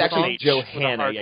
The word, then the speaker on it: Johanna: Johanna. Yeah, you're supposed to say it. The hard H.